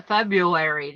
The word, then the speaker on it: February: you spell January j-a-n-u-a-r-y you okay it's the February that is confusing f-e-b-r-a-r-y I believe that have